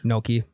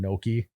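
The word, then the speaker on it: gnocchi: or whatever she made Noki that's probably the best soup I've ever had an makes it is it Noki Noki yeah it's spelled g noi yeah I would never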